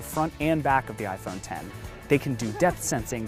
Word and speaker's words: iPhone X: It looks like the iPhone X, but you say it like iPhone 10.